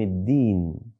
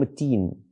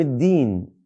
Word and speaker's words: الدين: مش الرحمن الرحمن الرحيم مالك يوم الدين بعض الناس ينطقونها مالك يوم التين غلط ما تستهن بقراءه الفاتحه مالك يوم الدين اياك نعبد واياك نستعين